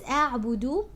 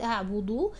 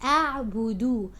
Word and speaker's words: أعبد: It's أعبد. Make sure you're not turning your dal into ضاد. It's not ضاد, it's not أعبد. It's أعبد.